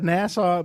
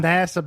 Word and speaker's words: NASA: base eight so there there is a nassau base in nasa nasa base sorry i keep saying it wrong out of these disgusted